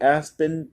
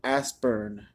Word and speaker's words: Aspern: for the movie called the aspen papers and I already said it wrong it's the Aspern papers the Aspern papers said